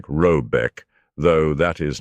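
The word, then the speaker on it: Råbäck: The mana house or herd in question is to be called Robeck, pronounced something like Robbeck, though that is not its name.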